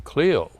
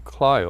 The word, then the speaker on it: Clio: travels, that quite often people would say, "Oh, you're from Clio." And I says, "No, we're from Clio." Or they would apologize for pronouncing it incorrectly. But I come back with a comment, "Well, do you know how to pronounce Ohio?" And it's Ohio, not Ohio.